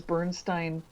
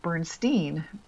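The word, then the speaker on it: Berenstain: it's these Bernstein Bears, when they remember that you'd pronounce it Bernstein, which was EIN previously.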